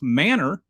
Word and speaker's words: Manor: every word in Texan has like its own pronunciation. So, M A N O R, which the rest of the civilized world calls manor in Texas it is pronounced manor.